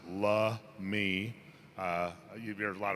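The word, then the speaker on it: Lummi: before there were tribes before there was a lummy tribe in 1855 the point Elliot treaty uh they came up with the name Lummy uh pronounced lme uh you hear a lot of pronunciations because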